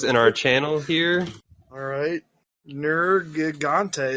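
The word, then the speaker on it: Nergigante: our channel here alright nerd ghonte that's how I pronounce that all right gnorga ghonte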